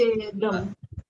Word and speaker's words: చేద్దాం: No, not chedam, and it is చేద్దాం.